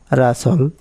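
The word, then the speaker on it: rustle: রুল নম্বর 11, শব্দে এসটিএল এর উচ্চারণ হয় সল, এখানে টি অনুচ্চারিত থাকে। যেমন বাসল, রাসল, নেসলে এবং ক্যাসল, এই টাইপের আর কি।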